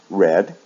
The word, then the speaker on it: read: and the past participle, the sound is different. So it sounds like the color red. So again, in the base form, it's read, in the past, red, and the past participle, red, without changing the spelling.